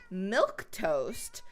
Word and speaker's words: Milquetoast: It's Milquetoast, but it's an actual word. It's not spelled like milk, the drink. It's spelled like milk toast, like this.